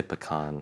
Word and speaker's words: pecan: This is like a pecan versus pecan? What side do you fall on? I say pecan. That's because that's the actual right pronunciation.